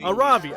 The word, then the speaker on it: Aravi: Oh god, how do you say this one again? It's been too long. Arabi. Aravi, okay, that's what I thought.